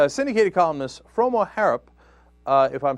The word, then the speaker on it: Froma Harrop: Froma Harrop, you were perfect.